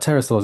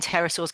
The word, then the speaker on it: pterosaurs: Rob, why can't we hear when terasaurs go to the toilet? Uh, is it cuz the pee is silent?